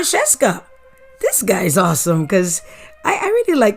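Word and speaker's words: Scieszka: And then I found out later that I really mispronounced his name name and I was so embarrassed and I said have to correct that. So here he is again. John Schesa.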